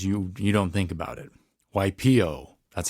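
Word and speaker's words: Waipiʻo: A lot of people say waipio, waipio. Without the okina, waipio.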